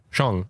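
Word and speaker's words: Kang-sheng: is it Le Kang Shang is that correctly pronounced okay Shong okay yeah Le Shang okay okay whom we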